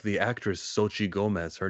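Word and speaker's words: Xochitl: the spot says X is pronounced like ch. Oh yeah, like the actress Sochi Gomez.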